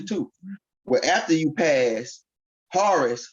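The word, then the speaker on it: Horus: but after you pass horace who is really haru or horror however you want to pronounce it right because different people from their perspective pronounce it different sounds say har some say haru some say horrors psalms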